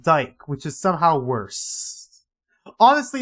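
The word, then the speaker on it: Dyck: thought it was spelled dick but with like a y but turns out my teacher my teacher like my it's actually pronounced Dyke which is somehow worse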